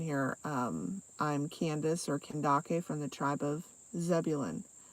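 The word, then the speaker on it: Kandake: using a different name Candace is how you would pronounce my name in English but it is an Ethiopian um form of how am I saying this okay so Candace in the Ethiopian language is pronounced kendake and so for those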